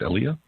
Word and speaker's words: Aaliyah: I'm going to talk to Aaliyah. Am I pronouncing that correct, Aaliyah? Yes, sir. You've got that correct.